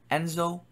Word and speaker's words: ENSO: the way I am so ENSO that's how you say it and this website you